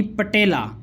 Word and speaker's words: पटेला: यह है जी पटेला, 4 मन मीट वेट के अंदर चुलस्तानी पटेला। लफ्ज़ पटोला नहीं होता, लफ्ज़ पटेला होता है।